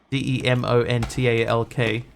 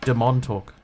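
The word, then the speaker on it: Demontalk: uh spelled demon talk d e m o n t a l k but he insisted everybody pronounce it DeMont talk they're like dude why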